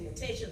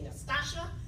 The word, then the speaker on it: Natatia: You know, I say Natatia, they say Nastasia, Natalia, Natatia, Natia, Natit. Heard it every which way, I swear.